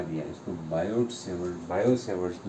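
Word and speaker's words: Biot–Savart: BYOD savoured ने अपना एक ला दिया, इसको बायोड सेवर्ड, बायो सेवर्ड ला भी कहते हैं, टी साइलेंट होता है, ठीक है, बायो सेवर्ड ला।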